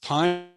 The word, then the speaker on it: Pyne: friday again many thanks to our presenter steve pine you can learn more about his books on